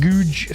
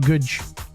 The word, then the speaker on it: Goodge Street: Um because it spelled like Goodge. It spelled like Goodge, but it's Goodge, but it's Goodge.